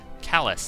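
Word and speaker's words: Kalas: one level up for callus that's how it's pronounced that's right been a few days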